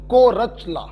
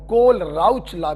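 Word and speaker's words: Kohlrausch: है सुनो बच्च देखिए अगर एच और एल साइलेंट कर दिया तो को रचला और अगर सिर्फ एच को साइलेंट कि तो कोल राउचर जैसे पढ़ना हो वैसे पढ़े य अंग्रेजी है अलग अलग लोग अलग-अलग तरीके से पढ़ते हैं कोर चला भी पढ़ते हैं और कोल राउ चला भी इसको पढ़ते हैं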